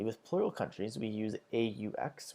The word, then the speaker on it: aux: Finally, with plural countries, we use AUX, which is pronounced as O, but when it comes before a vowel, you make the Z sound.